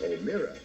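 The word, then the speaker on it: O'Meara: And Mike O'Mara, the name is spelled O-M-E-A-R-A, Mike O'Mara.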